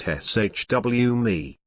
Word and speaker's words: Xiaomi: be looking at it for a while it's pronounced shw me but what's xiaomi we're sure some of you will have come